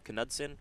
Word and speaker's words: Knudsen: me on this thing is it knudsen kanudsen something like that i think that's along those lines the k we decided is not silent yesterday we were talking about a silent k we were but we were wrong well which sometimes happens